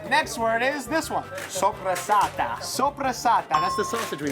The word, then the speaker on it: soppressata: Soppressata. Soppressata. That's the sausage we make, right? Yes. Soppressata. It's not supersat.